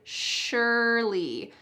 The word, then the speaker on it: surely: Notice the pronunciation of the word surely. There's no SH, surely, but it sounds like that.